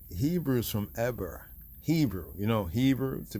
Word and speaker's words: Eber: the man the patriarch Aber or Iber right pronounced as Eber.